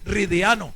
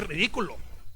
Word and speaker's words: ridículo: Que a todas estas el gordo Julio César más grosero me decía, padre, no se dice ridículo. Entonces, ¿cómo se dice? Me decía, es que se dice ridiano. Y dije, no, se dice ridículo.